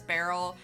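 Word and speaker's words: Berol: So you'll see on a lot of their older ones it says Barrel on the barrel. Go figure, Barrel on the barrel. It's spelled B-E-R-O-L.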